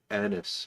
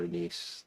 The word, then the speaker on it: anise: it'll probably taste like Anis or anise depending on how you pronounce it um that's the problem